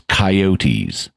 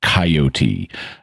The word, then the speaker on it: coyote: refers to them as coyotes using a threecllable pronunciation of coyote as opposed to the two syllable coyote. And the the Spanish word it's based on is three syllables, coyote.